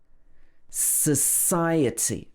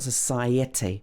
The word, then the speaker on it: society: Society. Again, it's a-t. It's not itty. It's not society or etty. It should be society.